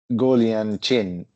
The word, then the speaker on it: Guoliang Chen: We have Guoliang Chen. I'm sorry if I didn't pronounce that in a correct way.